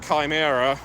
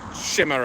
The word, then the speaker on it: chimera: and completely forgot that Chimera or Shimmer. Uh I love to throw out both pronunciations. Uh come some people say Kimra.